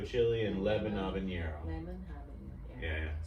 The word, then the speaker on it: habanero: Lemon habanero. Yeah. So the H is silent.